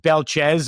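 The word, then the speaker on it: Belchetz: It's pronounced Belchez, according to Michigan State.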